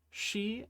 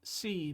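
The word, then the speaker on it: し: Remember, it's shi and not si because Japanese doesn't have the si sound.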